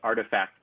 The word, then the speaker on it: RTFKT: adidas nike has purchased rtfkt pronounced artifact studios they have purchased